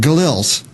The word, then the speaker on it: Gilels: can't say your name, Gilels. Right, exactly. Just how it's spelled.